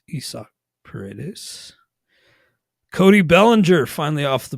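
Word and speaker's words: Isaac Paredes: playing time for isak that is how it's pronounced it's not Isaac parades it's Issa peritis Cody Bellinger finally off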